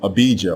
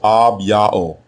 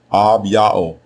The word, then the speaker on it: Abijah: There is also no such thing as the name Abijah or Abijah as it is spelled in the King James and other English translations of the Bible.